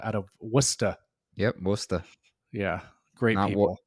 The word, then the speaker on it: Worcester: of Worcester yeah yeah Great Wall not warchester yeah I had to